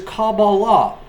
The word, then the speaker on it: Kabbalah: are not a cob list you don't even pronounce the word correctly it is Kabbalah Kabalah what you teach is not Kabbalah it